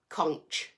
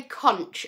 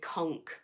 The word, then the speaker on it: conch: how i pronounce it conch we say conch over here well i think we do i do you guys i think in america say conk um but it's the